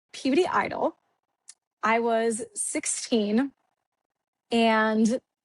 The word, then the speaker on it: Peabody: So I'm from Peabody, Massachusetts. Not puberty as some people think it's pronounced because they're like, "Where are you from?" So I always say Boston. So I'm from Peabody.